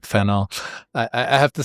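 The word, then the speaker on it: Fanon: Um and I remember her pronouncing Feno and um you know making sure that I pronounced it um with a French accent.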